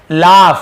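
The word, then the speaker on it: laugh: लाफ, इसे क्या पढ़ेंगे, लाफ पढ़ेंगे, लॉग नहीं पढ़ेंगे, लाफ। फ उच्चारण, लाफ, लाफ यानी हंसना।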